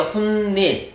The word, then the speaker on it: 훗일: 이 모음 앞에서 발음해보세요. 훈닐 니은 발음이 나죠.